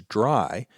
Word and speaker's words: DRY: Now, I'm always going to pronounce that as dry, but it's actually three letters, D R Y, which stands for don't repeat yourself.